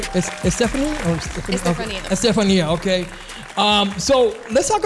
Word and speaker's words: Estefania: introduce to you guys is her name is estafan what's up yo I think I said your name wrong welcome you right Stephanie Oran Stephania okay um so let's talk about a little